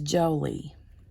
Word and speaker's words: Jolee: So, her name is Jolie, and I spell it Jolee, and it's kind of like Angelina Jolie, but it's not spelled the same.